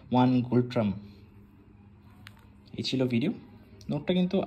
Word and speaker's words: Ngultrum: এবং রানী দেখতেই পাচ্ছেন টাকার নাম হচ্ছে গোল্ড ট্রাম্প এখানে এন কিন্তু silent so one gold ট্রাম্প এই ছিল ভিডিও নোটটা